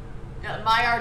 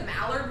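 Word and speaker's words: Maillard: rustic okay it's perfect my art reaction is that how it's pronounced I always used to say the mallard reaction I'm like that's a duck that's a duck 221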